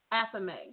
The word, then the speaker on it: athame: Okay, well, you might have to help me pronounce this one. What is a theme? Athame.